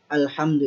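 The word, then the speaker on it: الْحَمْدُ: Artinya dibacanya alhamdu ini harus dengan jelas. Jangan pakai atau tanpa dengung. Seperti apa bacanya? Alhamdu, langsung. Tidak boleh dibaca dengung. Contoh kalau misalkan pakai dengung seperti ini. Alhamdulillah, itu dengung. Salah dibaca seperti itu.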